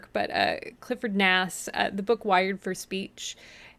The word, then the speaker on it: Nass: But Clifford Nass, the book Wired for Speech, has just, I read it and it just blew my career open.